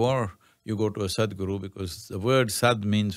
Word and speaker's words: Sadhguru: Am I pronouncing it right? Is it Sadhguru? Sadhguru.